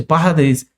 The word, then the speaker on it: pardes: que é chamado pardes é na realidade a pronúncia é parades é para é parades eles falam muito rápido mas é pardes é um acróstico Class